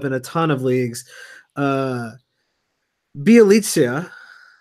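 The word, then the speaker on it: Bjelica: a ton of leagues, Bielitsa. It's pretty close. You got this one. It rhymes with pizza. It's Bielitsa. Bielitsa.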